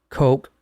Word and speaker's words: Koch: like coke coke like the coke you drink and then Co Coke